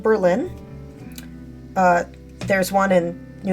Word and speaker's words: Berlin: I live in uh in 1914 got official renamed to be pronounced Berlin because of course it